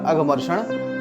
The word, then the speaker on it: अघमर्षण: यह जो है इसको अवग्रह चिन्ह बोलते हैं, तो इसका अ उच्चारण करते हैं तो ये हो गया अघमर्षण।